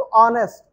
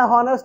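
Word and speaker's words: honest: रहे हैं, एडजेक्टिव, तो ऑनेस्ट। अब जरा देखिएगा एक बात, लिखते हैं हॉनेस्ट, लेकिन पढ़ते क्या है, ऑनेस्ट, पढ़ते हैं ऑनेस्ट, तो जो हम ए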